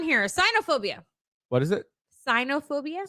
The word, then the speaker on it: cynophobia: cynophobia what is it cynophobia spell it c y n o phobia sign cyanophobia I would have never guessed that Sino would be it's blue